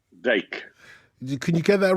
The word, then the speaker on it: Dijk: Could you just give him the right pronunciation? Dijk.